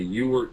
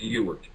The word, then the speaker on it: Ewart: Well, it's really Ewart, but it is mispronounced by almost daily. In any event, it's Ewart.